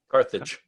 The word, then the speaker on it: Carthage: What's the pronunciation of that? Carthage.